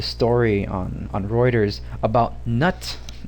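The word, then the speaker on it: Knut: on on reuters about nut and it's spelled k-n-u-t it's it's a it's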